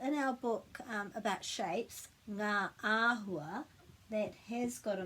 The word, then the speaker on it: Ngā: So ngā, the sound ngā, my tongue is actually kind of back here. Ngā, it's different to the sound nā with just the N. So it's ngā because this G has to be pronounced.